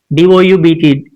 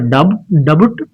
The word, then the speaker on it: doubt: D O U Bt is not a dut it's doubt.